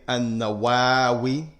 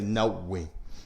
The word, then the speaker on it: Nawawi: is known as Imam Nawawi. Imam Nawawi. Some say An-Nawawi, some say An-Nawawi, and some say Nawawi. The scholars, they say both of them are correct.